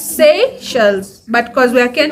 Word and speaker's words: Seychelles: sells I'm from seashells but it's pronunciations let's say yes not with that twang I'm getting stuffy but it's Seychelles but because we are